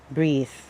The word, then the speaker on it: breathe: pronounced as breath and breathe as a verb with an e at the end is pronounced as breathe this means to exhale